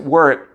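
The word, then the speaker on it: wort: that thick sugary syrup called work w-r-r-w-o-r-t even though we pronounce it word they put lactobacillus in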